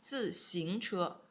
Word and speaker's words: 自行车: 自, fourth tone, 自行. Second tone, 自行车.